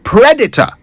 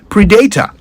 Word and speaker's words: predator: harming or exploiting them so that's Predator not Predator I believe that mispronunciation first gained common use in Ghana back in the 80s with the release of an Arnold Schwarzenegger movie called predator for some reason people struggled with this new word and the best they could come up with was PR data so in addition to